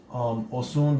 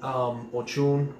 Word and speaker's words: Osun: Before I get into that, this word Osun, the way it's pronounced, the way it's actually pronounced is Osun, Elese ke Osun. You're saying Ochun, why they say Osun instead of Ochun, I don't know, but that's the way it's sung.